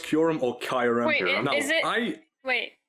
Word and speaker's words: Kyurem: And again, there was Kyurem as well. Kyurem or Kyurem.